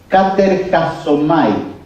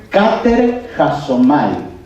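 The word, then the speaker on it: κατεργάζομαι: Ocupaos, el original es, se los deletreo para que la noten porque es difícil de pronunciar. Katerjasomai. Katerjasomai.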